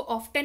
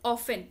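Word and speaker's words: often: हाउ ऑफन, इसको ऑफ्टन नहीं पढ़ते हैं, कृपया करके ऑफ्टन ना पढ़ें. This is called as ऑफन.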